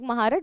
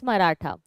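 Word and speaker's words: Marathi: maharat or marata okay like if you write it in English it looks like maharat but the pronunciation the real name is marata so quer and marata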